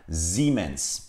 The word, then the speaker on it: Siemens: doğrusu ximen szeemann Siz Almanca'da seyahatimiz bazen Türkçedeki Z gibi bazen de bildiğimiz s gibi okunur ilk sz gibi son sese gibi okulun arkadaşlar Almancada iyi yanyana geldiğinde uzatılmış bir iyi gibi telaffuz edilir Dolayısıyla ximenes Evet arkadaşlar birçoğumuz Kişisel